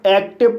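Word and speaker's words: active: का उच्चारण ई होगा, जैसे ए को ए पढ़ा जाएगा, सी को आदक का पढ़ा जाएगा, टी को टा पढ़ा जाएगा और आई को ई पढ़ा जाएगा और वी को वा पढ़ा जाएगा, ई साइलेंट रहेगा। इस तरह से एक्टिव पढ़ा जाएगा और एक्टिव मीन्स सक्रिय।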